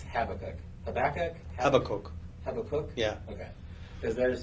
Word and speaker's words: Habakkuk: How do you pronounce Habakkuk? Habakkuk? Habakkuk.